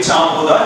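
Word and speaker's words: Jean Bodin: first ever political thinker the actual pronunciation of this name will be CH buha he was a French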